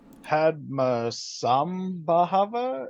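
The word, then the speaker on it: Padmasambhava: know the Master's Eye Zone so why did Padma Samba Hava is that how you pronounce it right yeah pad masam Baba that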